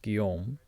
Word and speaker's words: Guillaume: So I live in Montreal, and his name would be pronounced Guillaume in Montreal or in France, but I don't know if it's Julien or Julien in English.